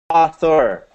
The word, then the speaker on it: author: First of all, let's say Thor. Thor. Thor. A. A. Thor. Thor. A. A. Author. Author. Author. Author. That's it. You got it.